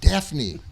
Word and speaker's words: Daphne: Daphne. Daphne. Yeah, Phonics, I even wrote out. Yes, the F is silent.